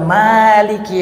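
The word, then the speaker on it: مَالِكِ: Karena Allah adalah maliki yaum, pemilik hari. Jadi kalau mimnya panjang artinya pemilik. Tapi kalau mimnya pendek maliki yaumiddin.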